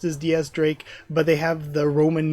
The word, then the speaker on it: X Drake: It's written as Diaz Drake, pronounced as Diaz Drake, but they have the Roman numeral X there for Diaz.